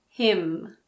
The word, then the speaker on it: hymn: Column, condemn, dam, hymn. What about the letter P? Well, we don't pronounce P if it comes at the beginning of a word before an S.